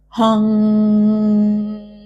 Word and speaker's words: Hong: So chant with me, Hong, where you are extending the last part of Hong as long as your breath is or as short as your breath is.